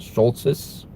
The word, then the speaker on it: Schulthes: It's spelled Schulthes. Schultz.